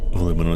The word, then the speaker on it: aluminum: I'm gonna say aluminum is weird.